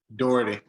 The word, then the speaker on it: Doherty: Am I pronouncing that? Doherty.